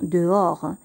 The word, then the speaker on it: dehors: chambre elle est dehors ici le h ne se prononcent pas le s ne se prononcent pas on va seulement prononcé des oeufs o'hare dehors on va dire dehors elle est dehors ça